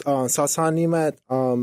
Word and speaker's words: Nemat: Is that how you pronounce that? So it's Sasan Nemat.